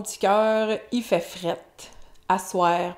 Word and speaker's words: à soir: Asseoir, prononciation informelle pour le soir.